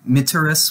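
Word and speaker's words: mitteris: get used to so miteris with with a short e is you are sent present tense meteris with a long e will be you will be sent and we'll get to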